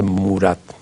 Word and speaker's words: Murat: y me dijo, mire, no se dice Marat, se dice Murat.